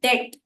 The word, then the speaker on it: debt: उसी प्रकार से DEBT, डेट, मतलब कर्जा। तो डेट में बी साइलेंट होता है और हो जाता है डेट।